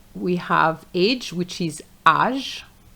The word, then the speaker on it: âge: And you have to remember that those words are going to be pronounced the French way. âge population capitalisme culture Now let's practice together.